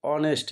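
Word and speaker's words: honest: কি হবে এন ঠিক আছে এটাও সেম দেখো অনেস্ট এ দিয়ে শুরু হচ্ছে এচ এর উচ্চারণ সাধারণত হ কিন্তু এখানে হচ্ছে কি মানে হনেস্ট না হয়ে কি হচ্ছে অনেস্ট ঠিক আছে এই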